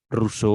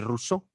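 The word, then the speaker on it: Rousseau: un juego de palabras con el nombre de ruso que se pronuncia en francés igual que lux rojo & soft es tonto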